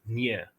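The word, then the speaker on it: nee: like that and cops but in standard Afrikaans nay is pronounced as near which followed the standard Afrikaans orthography so now the difference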